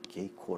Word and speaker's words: 景行: 알 수가 없는 것입니다 그래서 일본에서는 이것을 그냥 케이코 라고 읽고 있습니다 경기 에 해당하는 일본